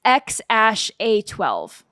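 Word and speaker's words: X Æ A-12: It is pronounced X-A12.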